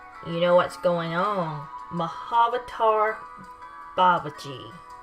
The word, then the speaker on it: Mahavatar Babaji: Mahavatar Babaji is the correct pronunciation.